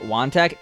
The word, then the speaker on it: Wongtak: taylor today i learned wongtak is pronounced wanted i have no idea